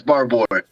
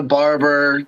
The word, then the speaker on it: Barbour: No, he's saying it right. It's Barbour. Okay. Yeah. No. I'm like the only person in the world that says it right. But I'm used to Barber, the Barbarian, whatever.